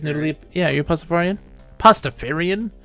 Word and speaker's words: Pastafarian: Leaf yeah your pacifier pastafarian it's not Rastafarian yeah if you say it wrong okay planet